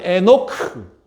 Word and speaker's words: 에녹: 에녹과 노아입니다 그래서 여러분 노아 에녹 히브리어 발음으로 비슷합니다 그래서 어 에녹은 에노크 노아는 노아 좀 비슷하게 들리죠 자 잠시 요약하면 의는 좀